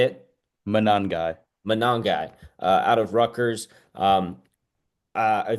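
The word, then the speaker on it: Monangai: But I think instead I'm going to go ahead and take Kyle how do you pronounce his Manangai, name, Zach? Say it. Manangai.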